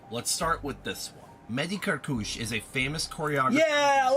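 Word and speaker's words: Mehdi Kerkouche: This is that Mehdi Kirkuchi person now. Hi, dancers. I'm Mehdi Karkouche and welcome. Okay. It's a very different pronunciation than I thought.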